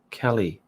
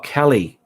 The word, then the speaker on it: Calais: a bit of difference my name is pronounced just like california california color color cali oh kelly kelly cali is